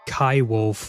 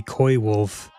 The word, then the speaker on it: Koiwolf: I remember you say I remember you pronounced my user in an odd way recently saying Kaiwolf when koi is just boy with a c. Koiwolf.